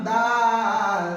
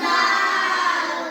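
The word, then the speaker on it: دال: দাল উচ্চারণ কেমন হবে দাল উচ্চারণ কেমন হবে দাল জিহ্বার আগা হতে নরম ভাবে আদায় হবে দাল জিহ্বার আগা হতে নরম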